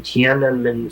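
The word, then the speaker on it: Tiananmen: I said, "Even if they killed everybody who was ever in Tanen Square, and I'm one of the few people that pronounce it correctly." It's hard to get that NM in Tan.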